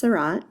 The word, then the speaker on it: Seurat: America we say it incorrectly we say George Sarat with a hard T rot and Sarat rhymes with DOT which is kind of cool and